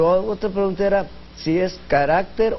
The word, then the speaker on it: carácter: Pero la otra pregunta era si es carácter o caracteres.